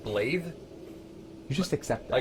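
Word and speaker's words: Blaidd: Also, he said his name is spelled B-L-A-I-D-D. He said Blythe.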